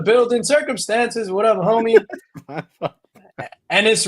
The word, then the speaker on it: Ennis: Ennis rhymes with penis. That is a fact.